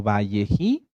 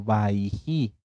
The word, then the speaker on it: Vayeji: hebreas en algunas tanaj como valleji o como baiji en ambas pronunciaciones están bien bji o baiji qué quiere decir y